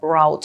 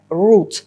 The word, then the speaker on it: route: routes маршрути intersections перехрестя Зверніть увагу на слово rout воно перекладається як шлях маршрут курс та має два варіанти вимови в британському варіанті це Root а в американському частіше вимовляють rout Tactical Map використовується in